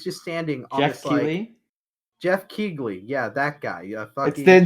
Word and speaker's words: Keighley: guy right he's just standing I'm sorry Geoff Keighley yeah that guy yeah then she don't pronounce the G yeah I'm doing it anyway